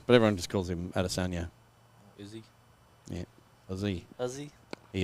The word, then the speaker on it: Adesanya: Well, there's a Kiwi mixed martial artist called Israel Adesanya. But it's actually supposed to be pronounced slightly differently. Is that the one he fights under 2 Adesanya.